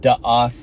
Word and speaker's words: da'ath: God told Adam that if you eat of the tree of da'ath in Hebrew, da'ath, D-A-A-T-H, the tree of death.